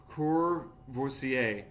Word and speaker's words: Courvoisier: You say "voi" because it's VOI, so like "roi." So you don't say when you say in French, "roi," "roi," it's ROI, "roi," and you also have, I guess in this case it'd be "Courvoisier" sign.